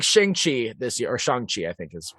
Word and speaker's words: Shang-Chi: But like Shang-Chi this year, or Shang-Chi, I think is how it's pronounced.